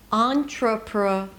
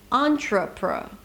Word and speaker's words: entrepre: If you remember, these are the schwas. Entrepre, entrepre, tr-pr, tr-pr.